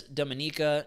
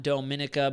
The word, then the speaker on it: Dominica: lot of sense yes Dominica not Dominica but love that you pronounce our name correctly most Americans say Antigua